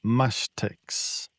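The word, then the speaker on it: Mashtyx: And I'm not sure if I pronounced this correctly, but mashix. Mastics. Yeah. Mashtics.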